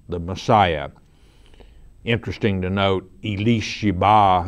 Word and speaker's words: Elisheba: Interesting to note, Elisheba, as it's pronounced in the Hebrew language, was also the name of Aaron's wife.